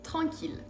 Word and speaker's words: tranquille: Cuidado, hay 3 excepciones, solo 3 nada más, que son ville, mille y tranquille.